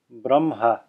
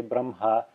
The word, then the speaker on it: Brahma: They say Brahma, reversing the pronunciation of the H and the M, even though it's written Brahma. Now, the technically correct pronunciation is probably Brahma, as written.